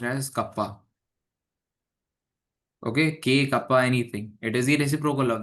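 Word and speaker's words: kappa: Basically see this is the conductivity and I am I am saying that this is pronounced as kapa.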